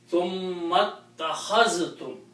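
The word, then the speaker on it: ثُمَّ اتَّخَذْتُمُ: In that case, we don't have to pronounce this alif again.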